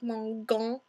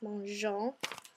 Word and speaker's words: mangeons: But if we left it with just the ONS, it would make a really hard G like mangeons. So we stick an E in there to make it all flowy and sound soft and pretty.